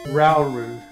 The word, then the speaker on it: Rauru: No, it's pronounced Rauru.